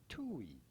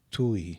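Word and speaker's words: Thủy: How do you go about pronouncing it? Tui. Tui. Tui. Tui. Pretty straightforward once you know.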